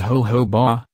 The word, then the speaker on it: jojoba: Jojoba oil, pronounced jojoba, it is derived from seeds but classified as a liquid.